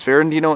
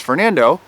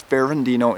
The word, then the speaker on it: Ferrandino: be talking about is fandino and son and Home Advisor I posted the same video not too long ago but wind up deleting it because I was pronouncing fandino as Fernando and Al the audio